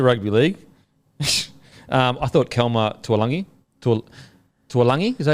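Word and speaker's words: Tualagi: I thought Kelma Tuolangi, is that how you say it? I believe so. Yeah, Tuolangi.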